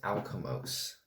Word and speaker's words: Alkimos: So this one is about a ship called the SS Alkimos.